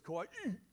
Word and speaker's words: Kauai: I found out that anytime you say a Hawaiian word, you have to pronounce the last syllable like someone's punching you in the stomach. So it's Kauai.